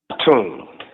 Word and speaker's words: Atun: How do you pronounce it? First name is? Yes. Okay. And the second half? Atun.